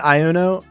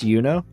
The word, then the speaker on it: Yuno: It's not Iono or anything like that. It's just Yuno. I'm still a little behind on the story, Sunar. Just a little. I've been busy doing this. Oh no, it's pronounced Yuno.